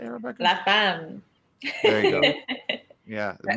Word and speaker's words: La Femme: La Femme.